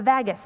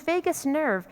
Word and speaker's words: vagus: They know there's a nerve in our body called the vagus nerve, the vagus nerve. I checked this out with a medical professional, the pronunciation. The vagus nerve.